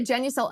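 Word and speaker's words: Genucel: can get your money back you'll also get genucle immediate effects for results in 12 hours or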